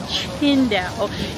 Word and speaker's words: Qingdao: Even though, if you just look at how it's spelled, it's Tsingtao, right?